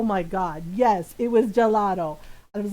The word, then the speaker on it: gelato: I was like, it's gelato.